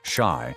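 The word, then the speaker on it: 四: The number four is banned because its pronunciation, shi, is identical to the word death.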